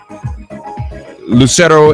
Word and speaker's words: Lucero: today dream a day is Lucette oh he'll Lucero am i pronouncing your name correctly oh good I'm glad